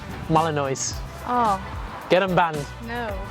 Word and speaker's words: Malinois: Malinois? Malinois.